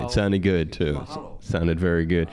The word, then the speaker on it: mahalo: Mahalo. And aloha, Onnie. Mahalo. Good to have you here, and you did get it right. It sounded good too. Mahalo. Sounded very good. You emphasize the second syllable.